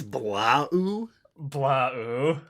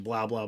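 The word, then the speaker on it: Blaau: to pronounce this one it's b-l-a-a-u so i think it's blah blah these aliens are part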